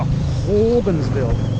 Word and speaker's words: Hogansville: You have to say it like that. Ho. Ho. Put your, open your mouth and put your tongue at the back of your throat and say it with me.